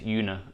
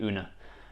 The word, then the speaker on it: Una: cross and una i i might mispronounce this yoona throughout the video but it should be una who represents truth and